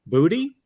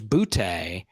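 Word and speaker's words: Boutte: Butte is now Keyshawn Booty. Booty, rocking everywhere. Okay. Yeah. All right. It's interesting, right? It was Butte, but it's Booty. He says it's Booty.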